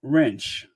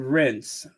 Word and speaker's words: rinse: For some reason, all my life, I have been saying wrench. Let me wrench that out. I'll wrench it instead of rinse.